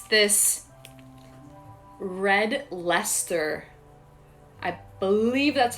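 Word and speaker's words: Red Leicester: the same way so that's why i'm actually pronouncing this cheese as red lester because i think that is how um british people pronounce it okay yeah i don't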